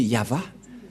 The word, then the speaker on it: Yahvah: à gauch gauche mais la vraie lecture de ce terme c'est yava je vais vous apprendre